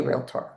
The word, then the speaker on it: realtor: Again, when I got into this business, I didn't even know how to properly say realtor. I used three syllables instead of two, and my ass got